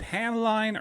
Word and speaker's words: Hamline: it that you and is it Hamline or Hamlin Hamlin um I Heard pronounce both ways I was just go with the Hamlin version Hamlin all right Hamlin